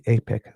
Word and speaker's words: APEC: It is definitely apec with a long a but as not aon as I've been saying for the other organization.